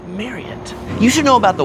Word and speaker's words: Marriott: price of this Marriott it's pronounced Mary you should know about